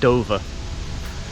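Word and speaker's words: Duver: Helen's Duval or Dover I think it's pronounced Dover d-u-v ER but it's yeah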